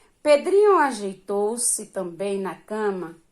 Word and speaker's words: Pedrinho: separe a sílaba Pedrinho Qual a sílaba tônica sílaba mais forte Dri né Pedrinho aí depois você vem